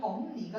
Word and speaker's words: 법리: 법리라는 단어 한번 우리 은우도록 합시다. 자, 법리 먼저 어떻게 될까? 리니 맞아. 고등부만 땄으면 일단 쫄아야 돼. 법이 됐어요. 그리고 나면 비 맞아요. 그래서 다시 한번 비음화 일어나서 최종 발음은 범리가 될 겁니다.